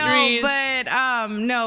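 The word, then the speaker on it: Dreaz: I always want to pronounce the E and the A separately for some reason, even though I've been told a million times it's Drees. Just say Drees. I'm like, so I want to say Drees. Like I want to say the A, but it's not. It's just Drees.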